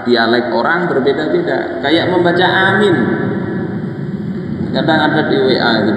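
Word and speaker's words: آمين: Memanjangkan hamzah, kemudian meringankan mim, mimnya diringankan, kemudian bacanya miring. Jadi A-nya panjang, Mi-nya pendek, dimiringkan. Jadi amin.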